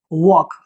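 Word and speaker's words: walk: बात नहीं करूंगा पर इट इज नॉट वलक इट इज वॉक rule क्या कहता है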